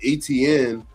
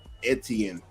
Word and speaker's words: Etienne: It We said Etienne, but it's now it's Etienne.